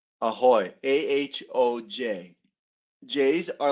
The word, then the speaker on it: ahoj: Beer, please, Yeah, and like, and what hi, do hi, how, hi is people say ciao or they say ahoy, AHOJ. J's are like like pronounced ahoy as Y's.